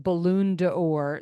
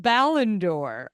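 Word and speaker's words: Ballon d'Or: finally she wins the I've been saying balloon deor that's not how it's pronounced I don't know it's called ballondor I've been saying ballon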